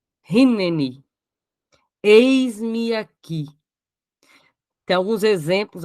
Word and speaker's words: Hineni: precisamos dizer eis-me aqui essa palavra Hebraica de hoje é Rin tá com H ali mas pronuncia-se R rinen eis-me aqui tem alguns